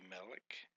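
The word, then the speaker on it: מֶלֶךְ: Can you say Melech?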